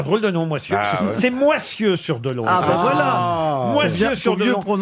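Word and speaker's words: Moissieu-sur-Dolon: Une autre citation pour Gisèle Lantôme, qui habite donc Monsieur sur Dolon, disais-je. C'est vrai que c'est un drôle de nom, Moisieux. C'est Moissieux sur Dolon.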